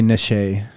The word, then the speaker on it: niche: __ ] ask me i always read it and i say niche kind of like touche but niche it's a niche is